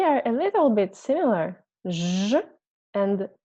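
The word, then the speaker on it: Ж: Looks like a star, actually, but we pronounce it like zh, zh, zh.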